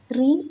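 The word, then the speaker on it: ऋ: ഈ അക്ഷരം ഹിന്ദിയിൽ എപ്പോൾ ഉച്ചരിച്ചാലും റി എന്നേ നമ്മൾ പറയാറുള്ളൂ. ആ എന്നിവ അക്ഷരങ്ങളായിട്ടല്ല നമ്മൾ ഹിന്ദിയിൽ ഉപയോഗിക്കുന്നത്.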